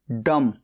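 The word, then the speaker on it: dumb: डी ई एफ डेफ बहरा डी यू एम बी डम गूंगा। यहां पर बी साइलेंट है।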